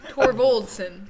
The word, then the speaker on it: Torvaldson: Torsot. Torsot. That's Torsit. Torsit. Yep. Torso. It's a long story. Okay. What was the actual name again? Torvaldson. No, it's a D. Torvaldson.